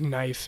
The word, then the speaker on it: knife: do you call it everyone knows the story of knife and night and all the silent K's because they they we used to have we used to actually pronounce the case and we don't pronounce them anymore because really yeah we